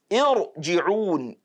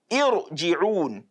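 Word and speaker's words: ارْجِعُونِ: So we will not say because, okay, this is kasra, this alif is carrying kasra, then it has to be tarqiq, it has to be an open mouth pronunciation. No. We now say irji'un. That is not correct. Because that kasra there is not fundamental.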